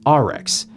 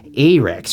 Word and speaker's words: Arex: being willfully ignorant because i'm pretty sure it's pronounced rx but i grew up in minnesota and wisconsin so it's a rex from slovenia i think